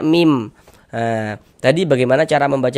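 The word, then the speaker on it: ميم: Jangan dibaca min, tapi dibaca mim.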